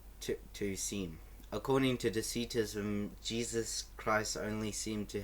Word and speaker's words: Docetism: like that but I searched up and it's pronounced deism so I'm going to say like that deism